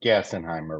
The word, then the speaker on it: Gassenheimer: in Irving Texas and your last name is pronounced gassenheimer right correct there you go all right I'm